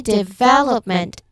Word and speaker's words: development: Development. That vow in the middle is where the energy goes. Third syllable from the end.